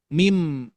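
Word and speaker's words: ميم: Jadi pengucapannya mim mim bukan min gitu ya.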